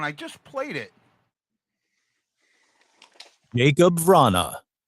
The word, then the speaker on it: Vrana: Jacob Vrana. I don't hear the A first. I hear it after.